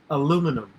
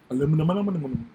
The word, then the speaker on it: aluminium: Okay, another hard word I had as a kid was aluminum. Aluminium.